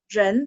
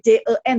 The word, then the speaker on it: 人: Nah, R-nya itu lidahnya pasti baca angkat. Ren, ya, ren. Mungkin dulu ejaan lama tulisnya gampangnya jadi J-E-N ya, jen gitu ya, jen. Iya, saya mengerti. Mungkin ada yang dulu diajarinya jen gitu ya.